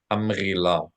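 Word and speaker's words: המגילה: Hamghila, hamghila. If you struggle with it, just Hamagila. pronounce it as a G, as in good.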